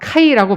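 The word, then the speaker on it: καί: 있나 없으나 뜻은 비슷하게 우리가 다가오지만 근데 원문의 그리고는 이제 헬라어로 카이라고 발음하는데 카이는 그리고라고 번역을 하기도 하지만 그러나라고 번역을 하기도 해요.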